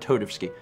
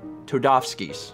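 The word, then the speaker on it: Toadofsky: salami raid over a dorae not todevsky um todofsky's yes should be the pronunciation todofsky's fine of it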